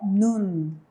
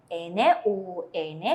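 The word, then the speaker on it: 눈: La primera sílaba tenemos las consonantes nien, la vocal u, y abajo tenemos otra vez 받침 nien. ¿Cómo vamos a leer entonces? Vamos a leer como nun. Muy bien. N-U-N, leemos nun.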